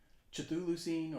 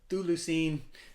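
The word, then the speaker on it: Chthulucene: And the word there is Cthulhucine or Cthulhucine or Thulucine, however you want to say it.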